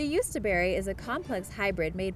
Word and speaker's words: Jostaberry: Number 2: Jostaberry The Jostaberry (pronounced as yust-a-berry) is a complex hybrid made by crossing the blackcurrant, with the European gooseberry, and the North American coastal black gooseberry.